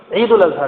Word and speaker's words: عید الاضحیٰ: تو یہ کہنا چاہیے، بقرہ عید نہ کہیں، عید الاضحیٰ کہیں. یہ صحیح ہے اور صحیح تلفظ یہ ہے.